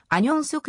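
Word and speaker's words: 안용석: を再開した本名アンヨンソクは韓国語で発音する際アニョンソクになってしまう芸名で名前を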